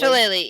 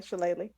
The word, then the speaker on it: Shillelagh: I'm not that cantrip they all were all razzing me for mispronouncing horribly. Shillelagh, yeah. Yeah, Shillelagh.